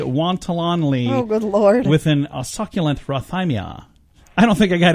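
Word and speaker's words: rhathymia: word of the day and the word is Roth aye Mia Roth I am yeah that's it's not easy to say Roth I Mia in order to say it properly you need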